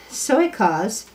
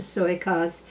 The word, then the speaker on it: Soykaas: Now, Soykaas, S-O-Y-K-A-A-S, makes a wonderful Monterey Jack. The only thing is, my people up here are buying the block in other health food stores instead of just the Soykaas Monterey Jack.